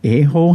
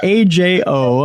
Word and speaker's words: Ajo: Paranormal investigators say an abandoned, is it an Aho hospital, is haunted? It's in southern Arizona. It's AJO. I'm sure I'll get plenty of emails saying, you're the Aho here, Tim, for mispronouncing the name.